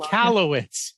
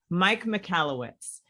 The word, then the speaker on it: Michalowicz: relationship with, the Prophet First, Mike, I can't pronounce his last name, but I love him. Michalowicz. Say it again. Michalowicz. Mike Michalowicz.